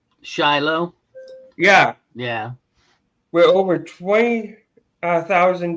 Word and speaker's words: Shiloh: After the battle of and I'm going to pronounce this name, this town name wrong. Uh Sai Lo Sila um during the civil war. What's that? Shiloh.